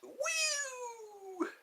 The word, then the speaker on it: UwU: UWU? Are those call letters? UWU. It's not about you. Let's see. Fart jokes? That's the go-to. If ever you're flopping, go to the fart jokes. It's pronounced woo.